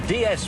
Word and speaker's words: DS: is in france pronounced day s de s it's the french word for goddess it was no is